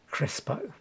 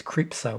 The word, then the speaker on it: Crespo: Rick Dufay and I could never say his Jimmy Crespo. I always mispronounce it as Cripso or something like that.